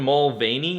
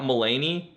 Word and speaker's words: Mulvaney: Is it Dylan Mulvaney, not Mulaney? Have I been saying it wrong this whole time?